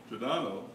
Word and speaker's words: Giordano: Around the same time, Italian philosopher Giordano Bruno suggested that the universe contains an infinite number of inhabited worlds populated by other intelligent beings. Giordano, or Jared, is like George.